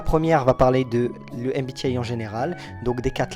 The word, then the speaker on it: MBTI: Moi, je prononce ça MBTI puisque c'est la version anglaise puisque le nom officiel du MBTI, c'est Myers Brigs Type Indicator.